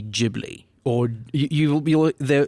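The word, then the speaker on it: Ghibli: of been folded into gibli but gibl jibli whatever you want to call it um that's what I also wanteded to get into it's JBL is the name of it okay so let's talk about this yeah so in Japanese it would be jibli or you you the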